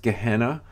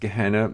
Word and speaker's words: Gehenna: Okay, so hell eternal, it's pronounced Gehenna. The Greek word looks like Gina almost, Geena, but it's pronounced Gehenna.